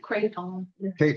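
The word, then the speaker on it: kratom: to I don't even know how do you pronounce it? or crap. Kraton.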